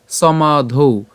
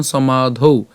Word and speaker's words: সমাধৌ: একটা ব্যতিক্রম উচ্চারণ এর উচ্চারণটা কেমন করছি আমরা সমাধৌ এখানে সমা পর্যন্ত উচ্চারণ করার পরে এই যে ধ আকার আছে